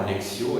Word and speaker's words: lectio: LEC hein parce que moi je prononce à la manière classique mais il est certain que le latin du moyenâge se pron déjà certainement lexio et plus leco comm on dit en latin classique voilà alors lire ça